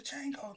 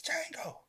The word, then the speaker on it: Django: Why everybody saying the Django? Nigga, it's Django. The D is silent.